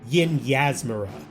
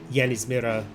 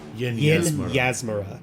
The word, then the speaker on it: Yinyasmera: The lady that runs Crook's Nook, her name is pronounced Yin Yasmira. I pronounced it Yanismira last time. Yin Yasmira.